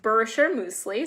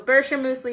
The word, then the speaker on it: Bircher muesli: these two weird words well it's a Swiss word it's a it's pronounced Bircher muesli so like BRR sure mousse and then we like a key right so Bircher muesli it is a Swiss